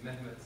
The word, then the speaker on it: Mehmet: So everyone, please repeat after me, make the sound. Yeah, that is the vowel in my name, Mehmet, and you can take your consonants yourself.